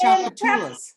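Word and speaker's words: Tchoupitoulas: it comes from it's from the Bible that's chapatas that's you that what do we that's that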